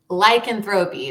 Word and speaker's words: lycanthropy: Lycanthropy. Lycanthropy.